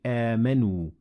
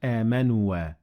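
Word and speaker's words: آمَنُوا: So we say amanu, not amanua.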